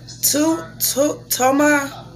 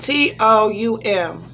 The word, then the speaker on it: Toum: So we have made Toma. Am I saying it right? Let me see. It's spelled T-O-U-M.